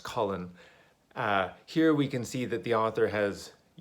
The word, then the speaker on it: Colin: I realize some people pronounce that differently. Where I'm from, this name is pronounced Colin.